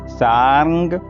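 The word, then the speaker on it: शार्ङ्ग: युध त्रिशूल च सारंग अब यहां थोड़ा कठिन उच्चारण पहले सा फिर र फिर और फिर ग सारंग मा युध मुत्तम एक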